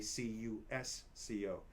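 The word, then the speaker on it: Qosqo: In Spanish and Portuguese and French, they say C-U-S-C-O. Now, in Quechua, they spell it Q-O-S-Q-O, usually with an apostrophe in the middle. But it's pronounced Cusco, so it's almost the same.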